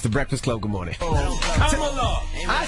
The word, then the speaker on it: Kamala: Kamala. I said Kamala Harris.